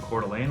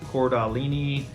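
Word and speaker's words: Coeur d'Alene: call it CDA um but cordelan is how you pronounce it not cordini cord Alain it's a tip right off the top when you when you have a phone call and there's a telemarketer that says cord Alini or anything like that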